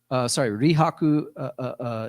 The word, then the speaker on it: Rihaku: And then from the notes, Rihaku is the Japanese pronunciation of the Chinese poet.